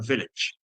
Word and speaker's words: village: queda en medio sería lo que llama una schwa, es decir, una vocal muy debilitada que es casi un sonido así, no es I ni A, sino village.